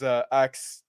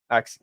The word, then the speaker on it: ACKS: I wanted to the comment that L said about is ACKS to pronounce like ASCII.